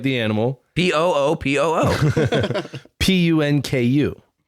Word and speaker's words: Punku: Punku. Punku. Okay. Puma and then punk you.